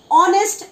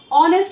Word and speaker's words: honest: No, it's honest and hour. And H is silent over here. When you write it, H should be over there or your spellings will go wrong. So it is honest and hour.